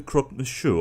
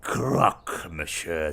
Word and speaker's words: croque-monsieur: introductions you are the croque-monsieur are you not that's the Crocker masher - you mangy people always get the pronunciation wrong I'm not really hearing